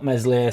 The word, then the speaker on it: Meslier: league um let's drop mesli silent s give Doo a go